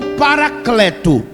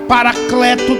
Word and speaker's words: paracleto: duas pronúncias estão certo paráclito ou paracleto como é um di acrílico no grego Então você fala paráclito Tá certo como fará paracleto também está certo eu acho mais bonito